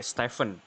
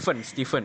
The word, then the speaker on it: Stephen: Emang cara bacanya Stephen gitu? Nggak pakai V, Stephen. Steven.